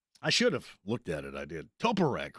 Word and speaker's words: Toporek: Toporek. There you go. Well, that's just not the proper way to pronounce that. Toporek. I like Toporek better. I think that sounds more fluid.